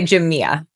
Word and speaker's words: Jamea: you definitely would not have been able to pronounce it. But we say Jia.